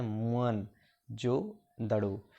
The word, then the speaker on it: मुअन जो दड़ो: सक्खर जिले में है मोहनजोदड़ों शब्दों का सही उच्चारण है मुअन जो दड़ो सिंधी भाषा में इसका